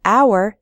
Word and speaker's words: hour: We say a hat because hat starts with an h sound, but in the word hour, the h is silent, so we say an hour.